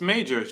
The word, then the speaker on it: Majors: saying his name wrong it's not Majors what is it myos what is it myos it's Majors Jonathan Majors oh I don't know